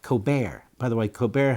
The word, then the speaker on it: Colbert: By the way, Colbert has a lawyer brother who pronounced it Colbert, just so you know.